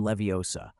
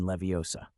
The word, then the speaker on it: Leviosa: It's wingardium leviosa. You draw out the gar and emphasize the O in Leviosa.